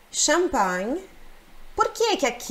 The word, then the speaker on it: champagne: é uma palavra italiana Então se pronuncia como no francês champag então champag per